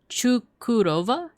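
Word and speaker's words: Çukurova: But for example, if you see a little like notch underneath the C, it's pronounced like a chu or ch. So like Chukurova, Adana, Balıkesir, Havran, Ayvalik, Izmir, Kusadasi.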